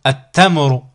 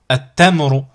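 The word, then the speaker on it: التمر: Du coup, on simplifie, on enlève le lam ici, la prononciation du lam, on passe directement du a au ta. Du coup, ça nous donne atta. Exemple ici avec un mot, at-tamru, at-tamru.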